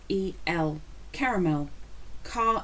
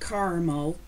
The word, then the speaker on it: caramel: Another pronunciation, C-A-R-A-M-E-L, caramel. It's not caramel, caramel.